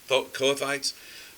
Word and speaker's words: Kohathites: Kohathites. Kohathites.